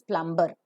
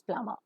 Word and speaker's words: plumber: society is a plumber the normal Indian pronunciation is plumber wherever you have more sound and burst sound Burr always remains silent so it is not plumber but it is plumber a plumber is a